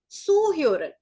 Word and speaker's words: zuhören: Z is pronounced as sir, so this is zuhören.